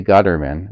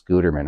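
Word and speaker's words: Guetterman: Lee Gutderman, not don't say Gutterman, it's Gutterman.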